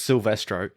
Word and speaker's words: Silvestro: do they pronounce it? That's what I want to know. It is literally just Silvestro.